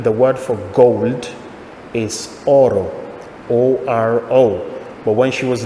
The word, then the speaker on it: oro: And this is because in Italian, the word for gold is Oro, O-R-O. But when she was little, she couldn't pronounce the R.